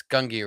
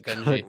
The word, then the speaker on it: Gungi: I refuse to call it Gunji. Good, good, good. Good. So it's Gungi forever. It is settled. Think fungi or fungi.